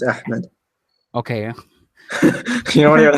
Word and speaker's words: Ahmed: that name Zed but it's like it's like ahed or something right no it's Ahmed okay you don't know